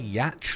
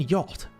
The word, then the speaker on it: yacht: the pronunciation of them I used to say yatch like catch when I was a kid what the is yat do you mean yacht that's such a funny